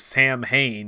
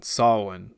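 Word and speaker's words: Samhain: garlic festival of solon hilariously mispronounced as sam hain in the sequel in ancient tradition sawin which is also the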